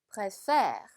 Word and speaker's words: préfère: préfère, préfère. 자, 얘 같은 경우 강세가 이쪽에 있어요. 그쵸? 그래서 préfére가 아니라 préfére여서 뒤에 오는 음절을 조금 더 강하게 발음해 주시면 되겠습니다.